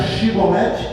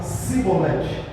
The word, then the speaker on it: chibolete: E aí em vez de falar a língua dele não dobrava, não conseguia a linguagem que eles falavam lá não conseguia pronunciar chibolete e ele falava cibolete.